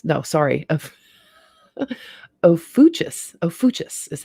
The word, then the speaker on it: Ophiuchus: to heaven and made it and asciplius the opuchius no sorry of ophuchus ophuchus is how it's pronounced ofuchus i want to call it something else but